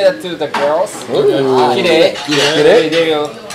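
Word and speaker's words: 綺麗: Kirei? Kirei. Kirei. Okay. So you can say that to the girls. Kirei.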